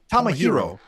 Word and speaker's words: Tomohiro: Tomohiro.